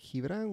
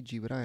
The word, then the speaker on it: Gibran: No, it's not, because the G in Spanish is pronounced like an H when it's followed by a vowel.